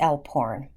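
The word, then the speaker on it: alphorn: life I perform the El porn you may have to look that up and you may want to spell it correctly that is a l p h o RN elps like the mountains it is approximately 12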